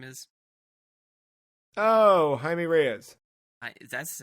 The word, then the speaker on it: Jaime Reyes: I didn't realize it was I guess that's Spanish, right? Because J's are H's and yes.